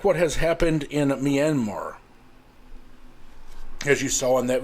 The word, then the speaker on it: Myanmar: what happened in Myanmar they may not may not know how to pronounce Myanmar but Myanmar I think one of the girls in there said Miramar which is not Myanmar but whether they can